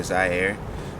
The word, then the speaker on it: Zai: So I go by Zaire. It stems from my middle name. This middle name is spelled Z-I-E-R-E, Zaire. This artist name is Zai, Z-A-I, Air.